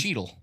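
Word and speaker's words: cheetle: well you know it has a name it's cheel it's called cheel it's true Don yeah kind of but it's spelled c h e tle e didn't know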